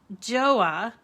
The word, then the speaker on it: Gjoa: a very interesting name it's joa like noah but it's spelled gjoa and that is where